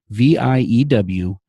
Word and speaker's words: ViewedIt: So it also is spelled View Edit, but it's really pronounced Viewed It.